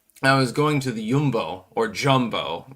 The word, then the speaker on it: Jumbo: But then, I was going to the Jumbo or Jumbo. It's pronounced Yumbo in in Dutch, you know, English dialect.